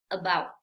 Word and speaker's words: about: Vemos la letra A, pero no es about. No, aquí vamos a pronunciar este sonido cortito, recuerda, sin mover nada de la boca, sin abrirla demasiado, simplemente es uh, about, about.